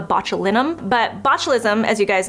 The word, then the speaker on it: botulinum: all know is botulism like I hear people say it's botulism it's not the correct way to say it it's a botulinum but botulism as you